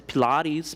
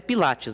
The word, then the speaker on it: Pilates: Pode ser Pilates, Pilates. Essa pronúncia aí, ela pode variar, tá? Mas é Pilates, né, na língua portuguesa.